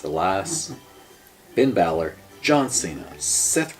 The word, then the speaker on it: Elias: Next, the 7-man Elimination Chamber match between Roman Reigns, Braun Strowman, Elias, the way it's spelled, I keep wanting to say Elias, but it's Elias, Finn Balor, John Cena, Seth Rollins, and The Miz.